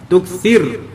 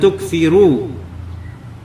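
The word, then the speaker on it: تُكْثِرْ: jazamkan huruf terakhirnya sehingga bacanya la tukir minad tukir bukan tukiru la tukir jangan kamu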